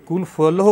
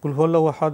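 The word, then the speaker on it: قل هو الله أحد: করা যাবে ধন্যবাদ আপনাকে আপনি কি এই যে উচ্চারণ করলেন কুলফুয়াল্লাহু বললেন যদি কুলফু আল্লাহু বলে থাকেন তাহলে তো উচ্চারণটা ঠিক হলো না প্রশ্ন হলো জি কুলহু আল্লাহু আহাদ এবং ফাতিহা দিয়ে কি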